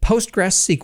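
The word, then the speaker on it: PostgreSQL: yourself to death it's compatible with postgress SQL or postgis squeal as I insist on pronouncing it so you can use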